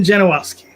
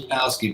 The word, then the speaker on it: Janowsky: Janowsky. Did I pronounce the last name correctly? It's Janowsky, but it's okay.